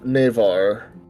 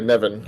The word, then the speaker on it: Nevin: Bob wishes to spread the word of Nevar. Sorry, Nevin, I believe it's pronounced.